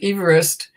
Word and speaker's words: Everest: And what I learned today before this was that it's named after a gentleman named Everest, but you pronounce it Everest.